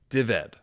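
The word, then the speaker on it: Dyfed: Welsh kings of a kingdom called DVD. Kind of like my name David but just crammed together. It's spelled ded, but it's more of a V sound. Deveted, something like that.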